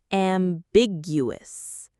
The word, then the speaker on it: ambiguous: Well, their message has become our third word, ambiguous. Let's work on this lovely sounding word. Am, big, uh, us. The syllables are am, big, uh, us. The strongest, most stressed syllable is big.